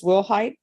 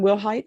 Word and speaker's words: Willhite: 2020 CR2272 state of Texas versus Wilhight. Can I have parties announced for the record for the state? Daniel Oscobar for the state of Texas. Kelly Piddle. And are you Wilhight?